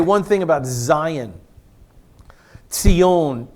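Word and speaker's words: ציון: Tzion, T-S-I-O-N is the Hebrew pronunciation, Tzion.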